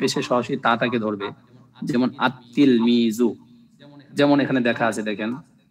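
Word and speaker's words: التلميذ: একটা আলিফ থাকবে আত্তিলমিজু এমন না যে আল তিলমিজু এরকম উচ্চারণ হবে না আলিফটা সরাসরি তাকে ধরবে আমরা যারা আমরা কোরআন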